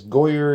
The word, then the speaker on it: Goaycer: I'm going to go ahead and ignore the C because Goaycer is easy to say and it sounds fine to me. So over here we've got the Goaycer, again spelled Goaycer.